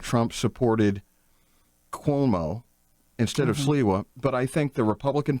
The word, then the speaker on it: Sliwa: How do you say his name? Silva? Sliwa. Curtis Sliwa.